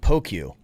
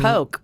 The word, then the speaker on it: poke: says here um it's poke the Hawaiian snack uh p o k which is Dice marinated AI tuna salad pronounced poke people often pronounce it Pokey or Worse poke as